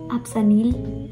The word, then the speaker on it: Apsanil: I can tell you pronounce it Apsanil.